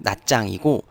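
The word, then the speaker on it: Nha Trang: 성에서 가장 큰 도시가이 나트랑 현지 발음으로 낱장이고 간호화성에서 제2의 도시가 공항에 있는 캄라니 그래서 나트랑 공항을 검색하면 캄란 국제공항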